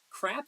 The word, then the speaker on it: CRAAP: introduce the crap test crap in this instance is spelled c AAP and it's actually an